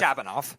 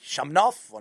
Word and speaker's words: Shabanov: And I Speedy, you're better with Shabanov. Shabanov who I'm I'm bad with. You know, I always pronounce his name like Shamov or Shabnoff or whatever the hell.